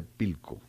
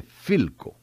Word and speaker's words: Philco: pilco dice el vendedor no no se dice pico la persona como efe se dice philco porque la persona como